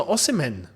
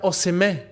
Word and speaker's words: Osimhen: that back and say his name isn't Victor oen no it's Victor oim o as John Obi Mel did clarify on his podcast if you know you